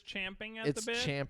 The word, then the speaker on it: champing: be eager to start wait it is champing so i've been saying it wrong in this whole my whole life yeah it says the original phrase is indeed champing at the bit but chomping at the bit emerged